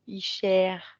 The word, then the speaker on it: Isher: C'est E en fait, c'est pas O. Icher. Icher. Elle fait ça. Ouais. Pourquoi c'est un E long, Icher?